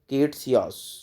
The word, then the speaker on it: Ktesias: ये देखो लास्ट में जो है ना, ये कट रहा है, ये कट रहा है, तो इसकी स्पेलिंग है KTESIAS, केटसियास।